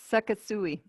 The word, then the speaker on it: Sekisui: It's Sekisui. They Try to spell that.